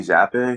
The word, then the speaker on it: Zappe: not going new york bayley zapp or bayley zappe i think that's how you pronounce his last name it's z-a-p-p-e yeah he